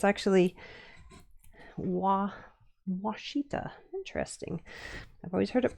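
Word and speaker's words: Ouachita: t a I always thought it was called wittita like a w a but so it's actually wittita. Interesting. I've always heard it pronounced, but I've never actually seen it spelled,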